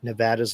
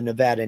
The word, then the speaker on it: Nevada: state because they tended to call it Nevada it's not no it's Nevada rhymes with Savannah do you ever